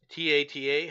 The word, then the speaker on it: Tata: TATA.